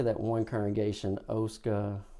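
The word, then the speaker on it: Oskaloosa: But I was gonna say you are true atla because when you did leave uh how do you say that one congregation Oska Oscaloosa.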